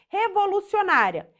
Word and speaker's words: revolucionária: última né penúltimo aqui a penúltima sílaba é mais forte né é o para revoluci revolucionária última a última sílaba mais forte da penúltima sílaba é bem mais forte e ela termina em